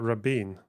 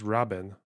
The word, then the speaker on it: Rabin: it pronounced Rin not Rabin it's pronounced Robin H we're learning so